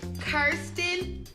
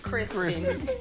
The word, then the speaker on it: Kirsten: It's Kirsten, not Kristen.